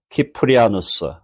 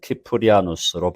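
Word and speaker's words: Cyprianus: 그래서 시프리아누스 of Carthage, 카르타고의 키프리아누스. 영어로는 그냥 시프리안 그러고 라틴어 발음은 키프리아누스로 발음합니다.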